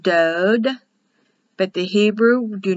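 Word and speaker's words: דוד: and it's translated doubt dode o like in yellow pronounced dode but the hebrew do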